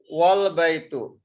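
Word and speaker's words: والبيت: In this case, we will not pronounce this alif. This alif we will not pronounce. Waw we will pronounce with the lam.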